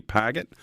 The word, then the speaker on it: Pigott: It's pronounced Pigott, but I like Pigott, so whatever is best.